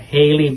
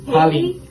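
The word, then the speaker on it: Halle: So, but I do know that Haley Bailey. How is her name? Holly. Sorry, I said her name wrong because I don't really know her as much.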